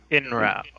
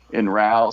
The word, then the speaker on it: Inrau: How do you pronounce his name? Inrau. Inrau.